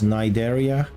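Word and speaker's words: Cnidaria: was their Arc name I knew that I was mispronouncing that Syria that was how it is written but I think it was pronounced as nideria I don't think they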